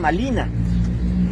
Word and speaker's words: Malina: Pero la R en la lengua náhuatl no se pronuncia, entonces le decían Malina.